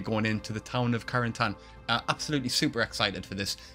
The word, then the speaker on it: Carentan: So yeah, I heard the mention in the last episode that they were going to the village of Carentan. That's how I pronounce it correctly.